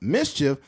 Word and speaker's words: MSCHF: While MSCHF pronounced mischief, hints that the inspiration may have come from the Dora the Explorer sidekick boots.